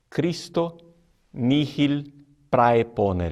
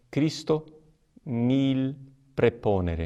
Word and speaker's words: Christo nihil præponere: Roma e por isso nós não usamos a pronúncia re constituída a pronúncia é constituída que seria aquela de Cícero é Cristo some really praia Pioneer é mas não é essa massa polícia a pronúncia correta Romana é christo nihil praeponere a e vejam que